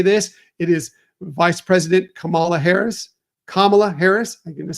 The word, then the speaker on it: Kamala: going to say this it is Vice President Kamala Harris kamla Harris I GNA say it right kamla Harris it is her birthday today she turned